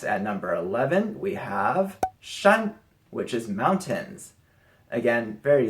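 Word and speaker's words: 山: like flames next at number 11 we have shun which is mountains again very simple very easy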